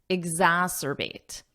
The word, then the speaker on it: exacerbate: exasperate mental health concerns notice the pronunciation here this is a tricky one exas Zas so get that sound Zas exas or bate exacerbate repeat after me exacerbate exacerbate now this makes something